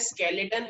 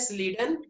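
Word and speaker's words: Schleiden: कुछ लोग इसको बोलते हैं स्केलेटन एंड सैकवेन, ये स्केलेटन और सैकवेन नहीं है, इसको क्या बोलते हैं? स्लीडन एंड स्वान।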